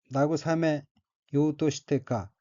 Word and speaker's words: 慰めようとしてか: 다음 어귀는 한자가 위로할 위자가 들어있고 일본어로는 나구사메 요우토시테카 라고 읽으며 나구사메 요우토시테카는 달래다, 위로하다는